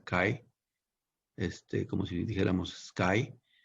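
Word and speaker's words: χ: simplemente cae aquí dice el libro que se pronuncia cae este como si dijéramos skype que es una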